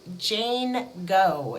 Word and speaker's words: Jane Goe: I had my first Jane Go, is what I'm going to call them, and Go is spelled G-O-E.